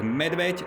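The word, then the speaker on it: medveď: we call it like M means like medved or bear is correct pronunciation, bear, and C is like garlic, cesnak in Slovakia language.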